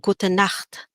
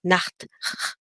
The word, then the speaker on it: gute Nacht: Okay, do you hear that at the back of your throat? Nacht. Okay, so the CH here is pronounced like a like at the back of your throat, you're saying it's like you're about to throw phlegm, but you're not really releasing it.